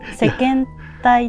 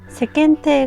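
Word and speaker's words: 世間体: Chúng tôi đã phát âm sai SEKENTEI thành SEKENTAI. Tôi thực sự không biết điều đó. Chúng tôi gọi nó là SEKENTAI. Nếu bạn nói là "SEKENTEI" thì tôi nghĩ là đúng rồi.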